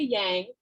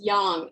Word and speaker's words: yang: don't say yang please don't say yang it's like nails on a chalkboard and i swear to god i'm going to pick my jugular out you say yin and yang it's yang is how we pronounce it right so yang